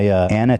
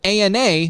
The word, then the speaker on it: ANA: It's an acronym that Ethan pronounces Anna instead of ANA like most...